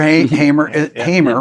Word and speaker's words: Hamer: Your Hamer, right? That's how you say it, Hamer 12-string bass.